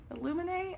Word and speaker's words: Illuminae: this book to me and that is illuminae illuminae I think is how you pronounce it by Annie Kaufman